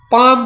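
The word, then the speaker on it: palm: है पी ए एल एम यह का पड़ी पाम पड़ी है एल हो जाए साइलेंट ठीक है का एम एम एफ के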